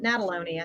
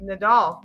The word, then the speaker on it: Nadolny: and then you're like Nadal and I'm like okay good yeah I'll be able to say it right y'all just focus on the doll d-o-l-l yeah yeah and